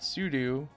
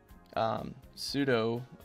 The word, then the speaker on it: sudo: So we've got sudo, or sudo, whichever way you want to pronounce it.